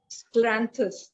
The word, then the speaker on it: Scleranthus: Scleranthus. It is Spell it.